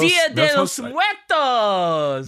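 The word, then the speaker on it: Día de los Muertos: Hey, you know, I don't know how to pronounce this. What is it? De los Muertos? Dia de los Muertos.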